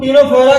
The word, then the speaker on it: Ctenophora: इसमें भी सी जो है वो साइलेंट रहेगी।